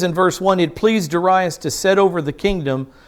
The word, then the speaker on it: Darius: chapter six darius darius is the king i pronounce his name darius he's the king of the medes he's the